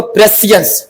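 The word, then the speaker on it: prescience: अह इसको तो क्या बोलेंगे इसको? प्रेसियंस।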